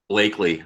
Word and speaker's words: Bleakley: So anyway, Bleakley, okay.